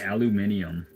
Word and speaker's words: aluminum: Like, imagine all these countries saying aluminium, when the guy who discovered aluminium called it aluminum. So like all these other people are just kind of goofy, saying it wrong.